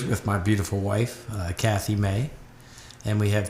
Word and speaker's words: Mai: I know your name's spelled funny, M-A-I, but they pronounce it May.